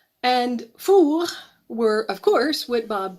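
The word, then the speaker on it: four: bad episode with fool the word in French for oven pronounced as if someone has just hits you a hard on the back it sounds the same if the ovens referred to are in the plural fool with an S and fool were of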